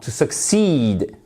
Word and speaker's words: succeed: mieux ex always best pascceed non succeed oui accentonique sur la seconde syabe répétons donc tranquillement cet